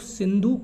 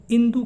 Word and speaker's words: सिंधु: फारस में बेसिकली साह का प्रोनाउंसिएशन नहीं होता है, इसलिए वो लोग सिंधु को इंदु कहते थे, और सिंधु के पार